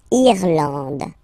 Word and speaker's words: Irlande: Irlande. Okay, A-N, D, and final E, not pronounced.